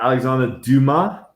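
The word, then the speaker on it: Alexandre Dumas: don't know if i've ever actually heard it pronounced at least yeah you could still you could go is it alexander duma that is correct yeah d-u-m-a-s dill man there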